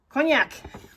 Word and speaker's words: cognac: Swagger, Belfast linen, cognac. That's how you say it.